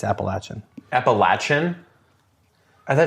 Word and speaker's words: Appalachian: Some people say Appalachian mountains, but it's Appalachin.